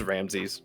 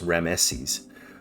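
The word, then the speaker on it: Ramesses: This is Ramsy's, right? Yeah. Some say some say there's actually three syllables. Rameses, but it's kind of debated.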